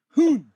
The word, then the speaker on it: Gi-hun: If it's H-U-N, you don't say it like woo. It's one of these short ones. We are looking at how to pronounce these character names as well as Erong, a character from Squid Game series, TV series, Song Gi-hun. Woon. He has a woo. He didn't say woo! He said hoon.